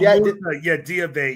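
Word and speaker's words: Diabaté: Did I pronounce it right? I looked up the name. The center from Charlotte. Oh, Diabete, yes.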